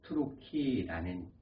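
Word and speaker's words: Türkiye: 터키라는 말을 풀이하면 투르키라는 발음입니다.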